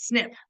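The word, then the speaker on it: SNP: like genetic genealogy profiles we make it a word and pronounce it as snip it's it's like it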